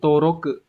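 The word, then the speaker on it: 登録: Ví dụ các bạn có trong từ toki này, đăng ký nhá, hay là trong từ toroku, đăng lục, ghi chép, đăng ký, đúng không?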